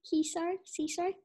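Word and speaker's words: César: Grant has received a Golden Globe, a BAFTA, and an honorary Caesar. Did I say it right? Caesar.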